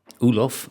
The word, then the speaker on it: Olof: to be pronounced uh but i pronounced myself as olaf ooloff okay and your preferred